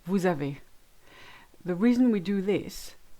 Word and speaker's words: vous avez: Instead of saying vous avez, we say vous avez.